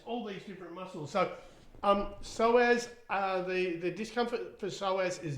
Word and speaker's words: psoas: I know how to pronounce this word now. The psoas.